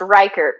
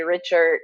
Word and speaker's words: Reichert: much easier, but yeah, yeah, it's pronounced Reichert. So Reichert. Okay. real Reichert. But yeah, a lot of times people say Richard or whatever with the CH.